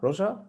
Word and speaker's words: Roger: So is he pronounced Roger? Roger. Okay. Roger. In Catalan. Talking in Catalan.